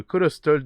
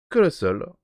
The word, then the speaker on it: Colostle: livre voilà qui s'appelle colossol alors j'espère que je le prononce bien je pense le prononcer correctement par rapport à la comment dire la version un peu anglaise peut colossol comme Castle voilà donc j'expliquerai peut-être